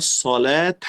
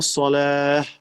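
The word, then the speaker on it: صلاة: Cuando una palabra termina con una ta marbuta o ta cerrada se llama, si no tiene acento, debemos pronunciarla como una J.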